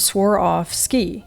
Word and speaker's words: Swarovski: And what she said is, I swore off skiing. In other words, I'm not skiing anymore. And swore off ski is how she explained it, which makes perfect sense.